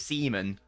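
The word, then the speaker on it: Osimhen: who's got the words I didn't realize that you actually pronounce this semen like spunk there we go that's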